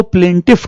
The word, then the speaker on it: plaintiff: तो यहां इसे कहते हैं PLAINTIFUL, प्लेंटफुल। भाई तुम देखना, यही स्पेलिंग है इसकी, PLAINTI।